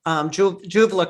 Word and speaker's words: Julva: And then the Julva cream, right? Did I pronounce it right? Vulva with a J, Julva.